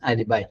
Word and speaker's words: alibi: It is alibi.